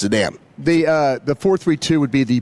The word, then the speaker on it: Zidane: Yeah, this is Zidane is how you say his name. I mean, I don't know how I'm pronouncing Zidane wrong, but that's how it. It's not Zidane. That's how it's said. It's Zidane.